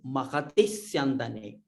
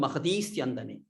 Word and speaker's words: महति स्यन्दने: Only thing is Mahati Syandane. If you stop here a little bit, then it will become Mahati Syandane. So that meaning itself will change. So you must pronounce it Mahati Syandane.